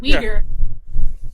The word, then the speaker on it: Uyghur: Why don't they use that energy towards the I don't know the correct pronunciation. My friend told me it's Uyghur genocide in China. Oh, Uyghur. That's right, Uyghur.